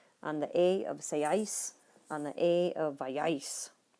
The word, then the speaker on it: seáis: Vosotros seáis. Accent on the A.